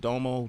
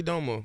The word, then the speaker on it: Domo: to say it round said Domo Domo everybody still say don't move really everybody look at